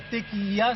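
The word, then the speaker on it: Tekija: Oui, qui s'appelle la Tequia, c'est-à-dire TE, ça s'écrit K-I-J-A.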